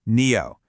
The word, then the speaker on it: NIO: And by the way, it's pronounced NEO.